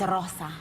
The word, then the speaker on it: Rosa: Her name is Rosa. Rosa! Rosa! But you have to say it like, you have to really roll it long.